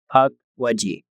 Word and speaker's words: Pukwudgie: Uh the story is about the creature called the puckwaji has it's pronounced like p u k as in puck and then wood rh mud and then j e. It's puck wedgie.